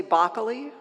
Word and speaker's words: Bockley: thanks for coming up it's bockley rhymes with broccoli noaar i live in